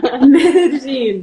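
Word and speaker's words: Medellín: It's like you say mede and then jean, like your jeans. So you will pronounce it that way. You remember that way. Mede, jean. Medellin.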